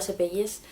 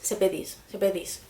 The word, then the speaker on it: Sepetys: El libro del que vengo a hablaros es Las fuentes del silencio, de Ruta Sepelles. Sepedis, me quedo con Sepedis, creo que se pronuncia así.